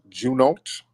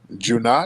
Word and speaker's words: Junot: let's get up junat Junot oh how am I pronouncing your name junat oh what's upiq how's it going brother I'm good brother am I pronouncing your name right no it's Juno Jun yeah yeah so um